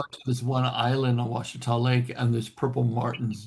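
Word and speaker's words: Ouachita: Australians, it's called Washita.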